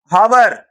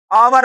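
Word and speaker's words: hour: इसको हवर समझ में आ रही बात? आवर पढ़ेंगे। क्या पढ़ेंगे? आवर। तो यहां पर हिंदी वर्ड से आपको कैच करना है। आवर। तो यानी आ का उच्चारण निकल रहा है।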